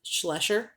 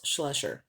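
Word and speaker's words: Schleicher: and this was steve schlesher i pronounce it a completely different name away but it is pronounced slusher he started out with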